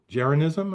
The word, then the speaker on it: Jeranism: Your YouTube channel is called Jeranism. Am I pronouncing that correctly?